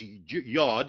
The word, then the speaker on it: iod: Now in his book he talks about iod and and and uh some people pronounce this yod like the Hebrew letter but he says an